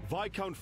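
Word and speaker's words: viscount: win for him sir vicount Fon has sent an urgent appeal to reinforce the front lines on the Great Bridge do not pronounce the S it's VI count got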